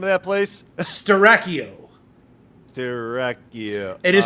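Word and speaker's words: Styracio: yeah what was that name of that place starrachio it is spelled let me pull up my notes right quick all right it is spilled uh uh s t y r a c i o strachio all right Dracula just name up a place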